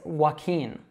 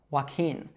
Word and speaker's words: Joaquin: So it's Joaquin, Joaquin. Now a good way to remember this is that it sounds like the verb walking. But the difference here is that that NG is a bit of a